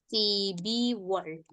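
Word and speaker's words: 십이월: Iya, dibacanya Sibirwol. Sibirwol. Kemudian bulan ke-12 Sipiwol. iya, Sibiwol.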